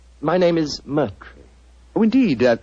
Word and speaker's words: Moriarty: People will either misspell it or mispronounce it. I'm afraid I'll have to begin calling it the way it looks. M-O-R-I-A-R-T-Y. Moriarty.